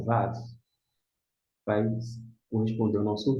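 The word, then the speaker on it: ו: Se é VAV, se você pronuncia VAV, a primeira letra da palavra VAV começa com V, justamente. Equivale ao nosso V.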